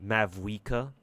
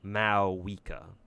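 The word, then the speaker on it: Mavuika: pronounce Ma's name correctly apparently you don't pronounce the v in her name cuz all this time I've been calling her uh M mavka right it kind of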